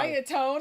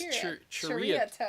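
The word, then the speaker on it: Ceriatone: yeah, we said it wrong. Seriatone. Seriatone. Whenever we were saying seritone. Yeah. It's Cheritone. It's Cheritone. Cheritone. It's Malaysian.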